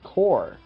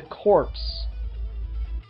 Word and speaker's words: Corps: thing I said was you need to learn how to say the word core because twice one of the Guardians of the universe who created the Green Lantern core refers to it as the corpse and while that could